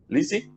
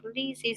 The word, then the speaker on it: Lizzy: at the moment and everybody says my name here like lisey so i'm like yeah that's correct but actually it's more eh like lizzy like the first i is not e and i know that i think i don't know in portuguese if you find that difficult to pronounce but the first letter i is not like e it's like eh so like lizzy lizzy good